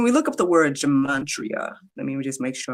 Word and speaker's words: gematria: Okay, so when we look up the word gematria, let me just make sure I'm saying it right. Yes, Gematria.